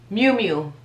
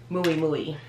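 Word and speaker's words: Miu Miu: like anyway mew mew you pronounce these mu mu i would have said muay mui mumu but it's mew mew mew mew like like m-e-w yeah mew-mew but i used to say maui muy which is no no that's not how you say it this one used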